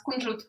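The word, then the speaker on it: кунжут: This is how you say sesame in Russian. Ooh. How's it pronounced? Is it pronounced the same or? No, it's kunjut.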